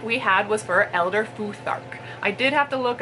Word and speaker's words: Futhark: The first prompt we had was for Elder Futhark. I did have to look up how to pronounce it cuz I didn't know if the T went on the first syllable or on the second syllable, but it turns out it's actually the second syllable.